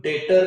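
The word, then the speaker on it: debt: और ये डेप्ट मत बोलना बेटा, जैसे हम लोग डेटर नहीं बोलते, डेप्टर नहीं बोलते, सॉरी, बी क्या रहता है डेटर में? साइलेंट। तो वैसे ही जब हम ये डेट बोलते हैं तो उसमें बी को हम प्रोनाउंस मतलब बोलते नहीं है, सीधा हम क्या बोलेंगे? डेट, नॉट डेप्ट।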